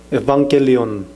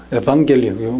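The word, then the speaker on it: εὐαγγέλιον: 그 왜 그러냐면 그 에반겔리온, 헬라어로 에반겔리온, 뭐 유앙겔리온이라고도 번역을 하는데 현대 그리스어 말로 하면은 에반겔리온이라고 말합니다.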